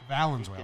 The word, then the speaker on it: Valenzuela: Fernando fans here at Venezuela. Yankee Stadium thought that every World Fernando Series, Valenzuela. Valenzuela. I knew I was saying it wrong.